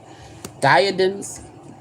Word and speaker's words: diadem: Diadems. Hold on. Okay. A jeweled crown or head head being worn as a symbol of sovereignty. How do you say it? Diadem. Diadem.